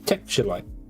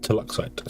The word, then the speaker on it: Teluxite: And this one is Texturelite, which is not called Texturelite, it's Teluxite. So, Tex.